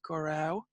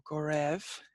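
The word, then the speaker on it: go raibh: So Gurav Mila Mahagat, and Gurau or Gorev is correct depending on your dialect and pronunciation.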